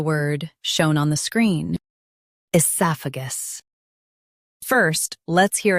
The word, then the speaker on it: oesophagus: In US, stress sa. In UK, stress soph. Esophagus. Esophagus.